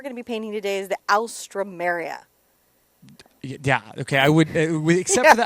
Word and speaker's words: alstroemeria: welcome by the way try this pronunciation for the flower I'll strum Marius this is what we're gonna be painting today's the alstroemeria yeah okay I would